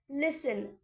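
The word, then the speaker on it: listen: आपने अ आवाज सुनी लिसन एल आई एस टी ई एन लिसन लिसन में भी टी हमारा साइलेंट होता है लिसन का मतलब होता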